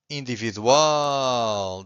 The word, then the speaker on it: individual: If you have a word that ends with an L, if the word ends with an L, you have to stress the final syllable, okay? Universal or individual.